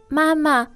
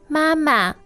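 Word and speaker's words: 妈妈: Mama. Mama. Now, that's first tone, right?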